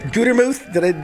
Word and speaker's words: Gutermuth: Did I do it, Gutermuth? You nailed it. It's Smith, actually. You screwed up. It's pronounced Jane.